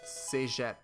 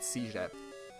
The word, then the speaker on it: cégep: You have to go through this thing called cégep. Or in English they pronounce it cégep.